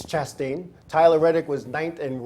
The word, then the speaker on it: Chastain: Somebody told me I was saying his name wrong all this time. It's Chastain.